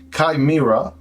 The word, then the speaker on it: Chimera: what the name means so Kaira that's a correct pronunciation meaning a mix of